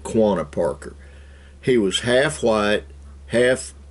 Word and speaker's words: Quanah Parker: comanche his name was connor parker a lot of people mispronounce it quanah parker he was half white